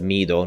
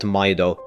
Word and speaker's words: Mido: name really is pronounced Mido not Mido apparently it's supposed to be pronounced the same as the word Midori which means Green in Japanese but honestly just call